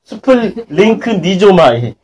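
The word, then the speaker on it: σπλαγχνίζομαι: 스플링크 스플링크 니조마이 아 정말 발음하기 어려워요.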